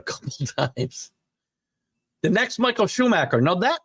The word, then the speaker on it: Schumacher: times the next Michael Schumacher now that name I know but it's been a while since Michael Shoemaker uh race right Schumacher I suppose would be the right way to say his name I mean if we